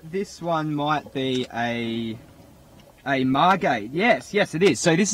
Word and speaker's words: Margate: Not Margate, Margate. Margate.